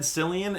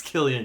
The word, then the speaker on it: Cillian: is soaring Emily Blunt Gillian Murphy that's how you pronounce it raise it I've always said Cillian and I'm never gonna change I don't care if the ladies elf says it's Killian you idiot I know